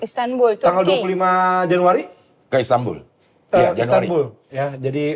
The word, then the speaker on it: Istanbul: tanggal 25 Januari ke Istanbul Istanbul ya jadi Istanbul Istanbul nun mati ketemu B itu iklab jadi bacanya m Istanbul Istanbul emang gitu